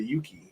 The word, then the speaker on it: Yuki: No, I changed it to Yuki.